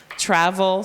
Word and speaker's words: travel: Travel, so the first syllable is accented.